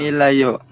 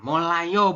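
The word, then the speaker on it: 몰라요: layo seperti ini ya molayo bukan milayo ya oke oke oke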